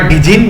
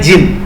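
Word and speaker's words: Djinn: और जिन ऑफ all desert, तो यहाँ पे इसको प्रोनाउंस मत करना डिजिन, ये होता है जिन, जिन ऑफ ऑल डेजर्ट।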